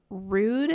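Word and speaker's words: Rhude: a newer brand to me it is called Rude if you guys are just listening and not watching that's spelled RH u d e pretty decent self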